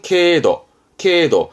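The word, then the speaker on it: 経度: 발음은 케도.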